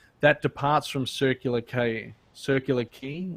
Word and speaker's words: Circular Quay: departs from Circular ke circular key I always say circular quay for the circular key and that passes the